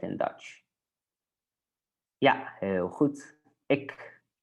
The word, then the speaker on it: ik: Ik. We say it very short, right?